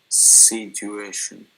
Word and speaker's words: situation: figure this out, is try stressing every syllable, right, and see which one sounds best. Situation. I don't know. Okay, so let's try. Let's try the first syllable. Situation. Okay. So okay. Situation. Situation. Okay. Situation. Yeah. So which one is correct? The third. Yeah, the third. So situation.